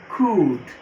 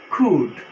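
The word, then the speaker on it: could: না, শুড, উড, ক্যান, খুড, এই যে এখানে এল উচ্চারণ হবে না, লিখতে আসবে কিন্তু উচ্চারণ করতে হবে না। খুড, মেই, মাইট।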